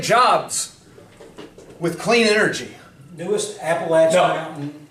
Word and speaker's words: Appalachian: I'm going to take care of all these people in Appalachian, Kentucky. Okay? That's how you pronounce it, Nathan Little.